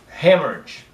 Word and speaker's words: hemorrhage: Hemorrhage. The stress is here. Hemorrhage.